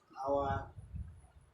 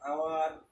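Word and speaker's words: hour: বেলায় আমরা লক্ষ্য করো আওয়ার, এই ধরনের শব্দগুলো যখন হয় এখানে এইচ কথাটা সাইলেন্ট লেটার হিসেবে থাকে।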